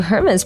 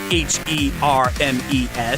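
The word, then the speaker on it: Hermès: I knew that Hermes was spelled Hermes, so I could understand the mistake, but I restrained myself from lecturing them that you don't pronounce the H in the company's name.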